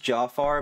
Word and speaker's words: Jafar: been working for Jafar I think it's actually pronounced Jafar but Jafar sounds Co cooler so ow got to